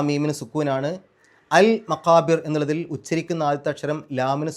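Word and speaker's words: المقابر: മക്കാബിർ എന്നുള്ളതിൻ്റെ അവസാനത്തെ ആ റാഇന് സുക്കൂനിട്ടിട്ട് നിർത്തുക. അങ്ങനെ നിർത്തുമ്പോൾ തൊട്ട് മുമ്പത്തെ അക്ഷരത്തിന് കെസറായതുകൊണ്ട് രി എന്നുള്ള ഉച്ചാരണം കൊടുക്കുക. മക്കാബിർ മക്കാബിർ, റ് എന്നുള്ളതിന് പകരം രി എന്നുള്ള ഉച്ചാരണം കൊടുക്കുക.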